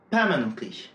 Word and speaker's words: permanently: À chaque fois, l'accent est placé sur la première syllabe.